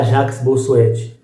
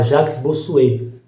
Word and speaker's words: Jacques Bossuet: O primeiro grande pensador vai se escrever Jacques Bossuet, mas você, aluno do SEDUC, você não vai falar Jacques Bossuet, você vai falar Jacques Bossuet, porque é assim que pronuncia.